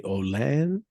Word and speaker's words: Olin: I see also on your LinkedIn profile that you had some time at am I pronouncing it properly? Olan or Mm-hmm. Olin? Olin.